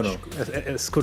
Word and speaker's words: Escudo: So, have you been fine with people calling you Escudo, or should we learn to pronounce it like Escudo? No. Escudo is fine. Like, don't worry about it.